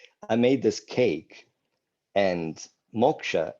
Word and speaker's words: moksha: made this cake and moksha in bengali is pronounced mokka so i made a